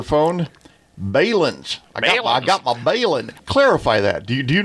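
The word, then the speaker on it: balun: I got my balin. Clarify that. Do do you know the correct pronunciation? It is balon, right? Well, it is a contraction of balanced to unbalanced. So, bal unbalanc. So, it's not balin.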